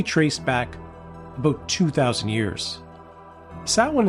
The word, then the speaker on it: Samhain: Samhain is spelt S-A-M-H-I-N, which has led some to incorrectly refer to it as Samhain.